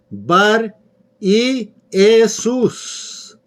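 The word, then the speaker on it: Bar-Jesús: bar y jesús si en tu biblia vas a encontrar que se pronuncia bar jesús pero en el original es bar y jesús hechos 13 6 y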